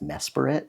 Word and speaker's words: Mesprit: I think the Pokémon is actually pronounced Mesprit.